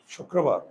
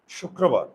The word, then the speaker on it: শুক্রবার: আর বার এবার দেখো র ফলা যদি মধ্যে থাকে এই র ফলা আছে কার সঙ্গে ক এর সঙ্গে তাহলে এই বর্ণটা দুইবার উচ্চারণ হবে আর র ফলার